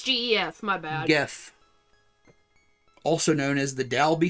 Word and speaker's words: Gef: Also, it's spelled G-E-F. Oh, it is. It's GEF. My bad. Geff.